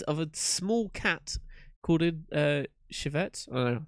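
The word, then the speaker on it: civet: a small cat corded Chevette that's how you pronounce it interestingly enough the flavor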